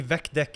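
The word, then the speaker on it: VecDeque: elements in the vector apparently vek deck is the correct pronunciation thanks atlas all right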